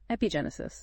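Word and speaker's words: epigenesis: this whole idea of epig Genesis is that how you say it yeah EP Genesis okay it sounds like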